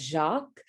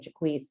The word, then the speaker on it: Jaquise: So my legal name is spelled Jacques, which many folks may pronounce or clock as Jacques or in French.